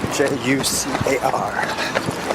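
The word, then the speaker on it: Júcar: Jucar. J's are pronounced like H's.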